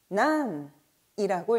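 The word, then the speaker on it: 何: 자, 일단 무엇은 난이라고 읽죠. 자, 그런데 뒤에 보통 조사가 100%는 아닙니다만 보통 조사가 따라 붙을 때는 발음이 나니의 형태로 자주 읽힌다는 것도 기억해 주시고요.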